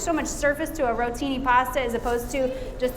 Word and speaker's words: rotini: We all say it together, rotini. You gotta say it like your giada, right?